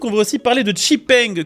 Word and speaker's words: XPeng: Tiens, vu qu'on parle de moteur thermique, on va aussi parler de Cheng que vous pouvez aussi prononcer Xpeng à la française, marque chinoise qui arrive petit à petit en Europe et qui vient de changer son fusil d'épaule.